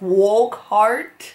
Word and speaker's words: Wokhardt: right it's spelled w-o-k w-o-k-h-a-r-d-t walk walk heart wolf heart did they just mispronounce his name in the there's no way because there's like two videos up and it's spelled exactly the same so it's walk heart um i just wanna say whoever requested this